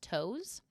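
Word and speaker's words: Toews: women talking by Miriam I'm going to pronounce this toes uh her last name is t o e ws and the book is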